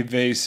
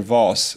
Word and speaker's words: vase: cool to have every vase be unique in some way and I can't decide whether to pronounce it vase or Vos so I'll alternate as